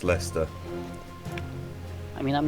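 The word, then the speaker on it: Leicester: It's It's spelled It's It's pronounced Lester.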